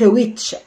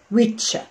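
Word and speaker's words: which: اوكي، حرف الدبليو برضو مع الاتش، دايما الاتش بتدي سايلنت ساوند، ما بتطلعش فيها صوت. فلما بنيجي نطلع بننطق ايه؟ ويتش ويتش، مش هويتش، ويتش.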